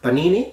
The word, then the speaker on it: panini: like Italian food you have had Panini now Panini if that's how you pronounce it that's correct but it's a similar